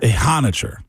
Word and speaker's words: Ehanire: They went and got him a new tackle, potentially a how do you say a a hot Max Max Ehanire Ehanire.